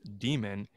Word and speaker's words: daemon: gonna take so in latin daemon or demon d-a-e-m-o-n pronounced demon that's a tutelary deity